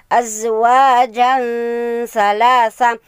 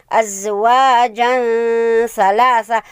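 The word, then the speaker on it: أَزْوَاجًا ثَلَاثَةً: So, ang tamang bigkas is azwajan salasa. Azwajan salasa. May gun na. Pero, so dir ka di mo makinig na kitnuyan din ay tunog ka ko tanwin na sa azwajan salasa. Huwag mong bibigkasin ng azwajan salasa. Mali po. Dapat na azwajan salasa.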